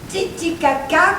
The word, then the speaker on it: Titicaca: Titicaca, comme ça se prononce.